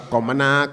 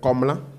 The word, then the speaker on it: Komla: C'est pas Komana, non, c'est Komla.